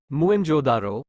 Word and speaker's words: मोहनजोदड़ो: पंजाब का हड़प्पा तथा सिंध का मोहनजोदड़ो मूल उच्चारण मुं जोदारो शाब्दिक अर्थ प्रेतों का